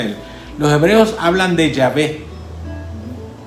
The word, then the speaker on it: Yahvé: Los hebreos hablan de Yahvé. En español se dice Jehová, pero en hebreo es Yahvé.